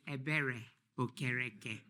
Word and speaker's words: Ebere Okereke: My name is Ebere Okereke. It is pronounced exactly as it's spelled.